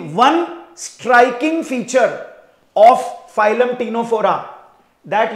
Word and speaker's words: Ctenophora: आपको रिमाइंडर दे दूं इसकी स्पेलिंग स्टार्ट होगी सी से पर इसका प्रोनाउंस होगा टी से टीनो फोरा ठीक है सो you will write the सी बट you will not pronounce it अब इंग्लिश में पता